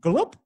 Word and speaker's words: Gjalp: Yeah, it's spelled Gjalp, like when you take a swig of water. That sounds like someone's got an ice cream scoop in the Scrabble bag and just thrown it down. Gulp?